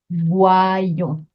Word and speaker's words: voyons: And the conjugated verb is voyons. Voyons. Be careful how you pronounce that one.